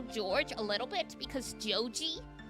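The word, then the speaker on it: ジョージ: a little bit, because Joji is how you would pronounce George, and that's a normal Japanese name too.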